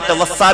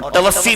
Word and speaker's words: توفی: بیٹھے ہیں، اس کو بعض علماء نے توفا بھی پڑھا اور توفی بھی اس کا تلفظ درست ہے۔ تو اب توفی کا